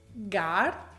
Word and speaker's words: guard: Partiamo dalla lettera U, che è sempre muta prima di una vocale o dopo la G o la G. Ad esempio, guard, colleague, guest, guide, guitar.